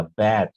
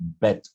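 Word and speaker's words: bet: तो इसको राइट उच्चारण के साथ बोलिएगा, बैट। और शर्त को कहते हैं बेट, बेट, बैट नहीं। तो मैट, मेट, सैट, सेट, wait, wait, बैट, बेट।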